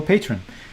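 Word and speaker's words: Patryn: quadriga scandal sifu aka michael patron is how you say patreon aka omar da nani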